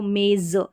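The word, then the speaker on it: maze: पर एक और है जेड ई तो मेज जेई को भी ज प्रोनाउंस करेंगे का कॉमिनेशन अभी सबसे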